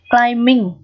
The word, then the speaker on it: climbing: như thế này, climb, thì âm b này sẽ là âm câm không đọc này, chúng ta sẽ không đọc âm b mà chỉ đọc âm m thôi nào. Climbing chứ đừng đọc là climbing nhé, các bạn lưu ý này, đọc là climbing, ming đó, climbing đó.